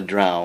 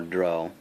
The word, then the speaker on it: Drow: The idea for the Moon Elves was that of the Drow, or Drow, however you choose to pronounce it, the Dark Elves of the D&D worlds.